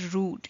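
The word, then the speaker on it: rued: It just sounds like the word rude, R-U-D-E, but the meaning is completely different.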